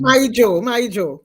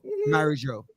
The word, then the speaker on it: Mary Jo: So it's actually like married. It's like it's two names pronounced as My Joe. Marijo.